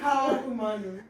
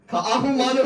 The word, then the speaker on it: Ka'ahumanu: Ka'ahumanu. Ka'ahumanu is correct.